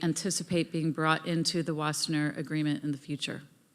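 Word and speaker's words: Wassenaar: agreement and Arms Control wasner fastener in December it's a Dutch Dutch word I shouldn't pronounce it like the Germans and could you please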